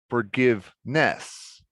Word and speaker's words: forgiveness: the on the cd forgiveness when you say it correctly forgiveness give is where the stress is forgiveness not forgiveness moodiness not moody ness don't separate the suffix from the word but we move along